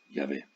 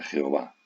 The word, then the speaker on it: Yahvé: los cristianos católicos es Yahvé. Veréis que los protestantes muchas veces utilizan la palabra Jehová, pero lo correcto lingüísticamente, históricamente, es Yahvé. Jehová es una pronunciación defectuosa y en todo caso,